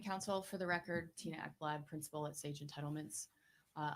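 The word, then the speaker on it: Ekblad: your last name again e kbl a d is how it's spelled and it's pronounced eblad never would have guessed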